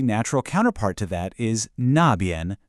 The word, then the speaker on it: 那边: And of course, the natural counterpart to that is 那边, pronounced 那边.